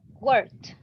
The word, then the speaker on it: worked: Worked. Okay, there you go. So she has a T pronunciation, worked.